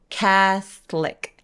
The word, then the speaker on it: Catholic: 이 카톨릭은 모음이 보이기엔 세 개지만 사실 중간에 있는 O를 없애버려요. 그래서 catholic.